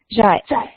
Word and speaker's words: 在: Zai. Pretty much exactly the same pronunciation as like 再见, goodbye.